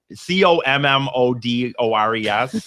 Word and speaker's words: Commodores: I can't I don't know how to pronounce this. Camodo C O M M O D O R E S.